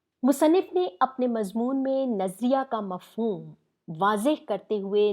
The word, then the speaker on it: نظریہ: اصل مفہوم کیا ہے۔ سب سے پہلے تو تلفظ ٹھیک کیجیے گا۔ عموماً لوگوں کے منہ سے یہ لفظ نکلتا ہے نظریہ پاکستان، یہ لفظ نظر سے نہیں نکلا ہوا، ٹھیک ہے، یہ نظر ہے، سوچ سے، انسانی ذہن